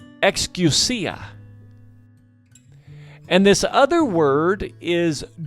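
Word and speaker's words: ἐξουσία: believe but this word authority in greek is pronounced excusa and this other word is dutimus for power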